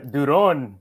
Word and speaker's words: Duron: So Rene, I'm gonna go ahead and introduce you, but it's Duron, something like that. Yeah, that's pretty good. Duron, Rene Duron.